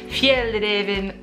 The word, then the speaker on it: Fjällräven: And it's this beautiful little number by Fjällräven Kanken, which I believe is how you pronounce it in Swedish.